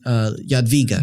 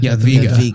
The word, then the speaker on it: Jadwiga: Queen Jadwiga. Jadwiga.